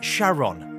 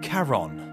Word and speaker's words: Charon: to his wife Charlene he pronounced it as Sharon rather than Caron not much was known